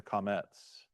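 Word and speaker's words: qamatz: It's a comets. Okay, so this is, it looks like a little T, but is in Hebrew, it's an ah sound. It's a short A sound.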